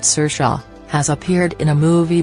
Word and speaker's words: Saoirse: This is the second time the Irish-born Ronan, her first name is pronounced Saoirse, has appeared in a movie based on a McEwan novel.